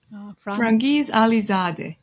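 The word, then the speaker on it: Franghiz Ali-Zadeh: how you and then also how do you pronounce this alaijani composer frangis alizad.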